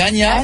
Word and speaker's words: Ania: va Anja allô c'est Ana pourquoi j'ai dit Anja alors ça ah ou ça se prononce Ana ok salut l'équipe je